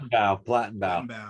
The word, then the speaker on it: Plattenbau: Am I pronouncing that right? Plattenbau.